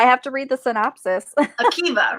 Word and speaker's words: Akiva: Akiva, right? Akiva, we determined that. His name is pronounced Akiva.